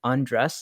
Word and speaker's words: Andres: avatars so my name's andreas it's you pronounce it like undress like undress your clothes or some stuff like